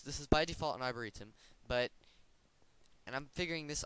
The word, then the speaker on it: arboretum: you're farming by default this is an arborium i think is what it's called i will double check the pronunciation right now arboretum sorry it's an arboretum it will currently it